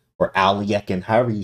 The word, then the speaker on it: Alekhine: Okay, so knight to D5, this is first off, they call the Alekhine's defense or Alekhine.